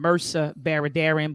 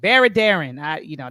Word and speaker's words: Mehrsa Baradaran: Racial Wealth Gap by, I pronounce her name, Mehrsa Baradaran, but some of you may get on me for butchering her name. But Baradaran, that's what I call her.